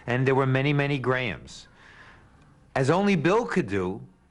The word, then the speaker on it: Graham: closest to gruna and there were many many grahams as only Bill could do after selecting this